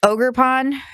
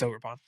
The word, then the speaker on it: Ogerpon: So is it the Ogre Pond? It's Ogerpon.